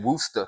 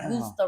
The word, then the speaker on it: Worcester: Yeah, because not only did we play at Wally's in New Hampton Beach, Played in Worcester.